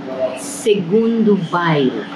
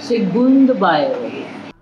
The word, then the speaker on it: Segundo Bairro: Evelyn, tell people how to pronounce the name of this restaurant. Segundo Bairro. Lovely. Bernardo restaurant. Now you know from a Portuguese speaker how to say it. Segundo Bairro.